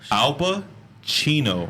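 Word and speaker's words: Alpa Chino: Oh, Alpa, Chino.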